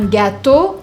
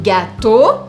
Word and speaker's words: gâteau: E-A-U. Todas as vezes que você encontrar E-A-U, você vai falar O. Quer um exemplo, então? Para todos esses exemplos de Os diferentes? Je veux un gâteau au chocolat.